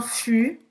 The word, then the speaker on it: fût: Não vai pronunciar esse T.